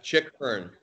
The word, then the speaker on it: Chick Hearn: Chick, like a chicken. Oh, my bad. Yeah, sorry. Chick Hearn.